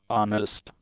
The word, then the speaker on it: honest: Honest. The H is silent.